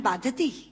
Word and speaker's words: बाधते: कि राजा, मुझे ये भार कष्ट नहीं दे रहा जितना आपके मुंह से बोला हुआ बाधती शब्द कष्ट दे रहा है, क्योंकि बाधती शब्द का अशुद्ध उच्चारण आपने किया है। ये शब्द बाधते होना चाहिए।